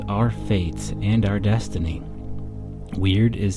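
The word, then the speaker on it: wyrd: within yourself part one weird weird pronounced like the English word weird but spelled wyr Dean is a Norse and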